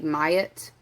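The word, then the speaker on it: Maat: It's like M-A-A-T, Mayat.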